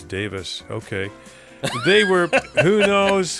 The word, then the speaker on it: Davies: I I was told by somebody to know that it's not Davies, it's Davis.